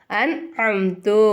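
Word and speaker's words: أنعمت: very good எப்படி ஓதணும் அன் அம்து இங்க நம்ம குன்னா செய்யக்கூடாது இந்த நூனே சாக்கினை நம்ம வந்து வெளிப்படுத்தி உச்சரிக்கணும் ஓகேங்களா அப்ப நம்ம எப்படி சொல்லணும் அன் அம்து அப்படின்னு சொல்லணும் இல்ஹார் சட்டத்துல என்ன பண்ணனும்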